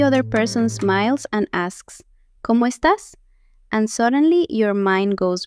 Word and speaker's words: cómo estás: Como estas means how are you? It sounds like como estas. Say it with me. That accent on the a tells you to push the last syllable. Es tas.